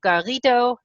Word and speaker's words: Garrido: Totally excited on the line today from Brazil, Fernando Garrido Vaz.